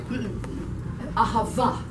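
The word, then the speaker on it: אהבה: Ahava. Ahava. Accent the end. Ahava. 重音在最后。 I pronounced it wrong for a long time, and then my messianic rabbi said to me, "You're saying it wrong, so it's ahava."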